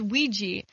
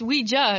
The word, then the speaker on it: Ouija: get upset about it they're like no it's ouiji and now i'm finding out no it's weija it's like yeah it's always been but i